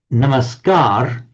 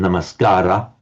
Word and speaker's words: Namaskara: Namaskar, Namaskar, it's pronounced in modern times, the dropping of the final A. In older time, Namaskara.